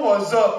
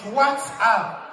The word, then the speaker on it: WhatsApp: I say, mommy, it's not what's up, it's WhatsApp.